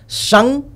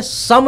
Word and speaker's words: शं: उच्चारण में सम नहीं बोलना है। ओम सम शनिश्चरय नमः नहीं बोलना है। ओम संग 100 है और एक बिंदु है ऊपर में तो ओम संग शनिश्चरय नमः बोलना है।